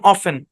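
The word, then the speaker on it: often: করেন অনেক কমন দেখেন এখানে টি টা সাইলেন্ট এই শব্দের উচ্চারণ অফেন কি উচ্চারণ অফেন অফেন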